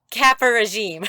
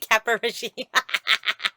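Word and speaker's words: caporegime: Is it Capo regime? Capo regime. Kappa regime. Okay, Kappa regime.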